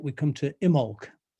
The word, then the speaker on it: Imbolc: And then going to the right, we come to Imbolc. The B is silent in the name. And, well, that was yesterday. Imbolc, where the springtime begins.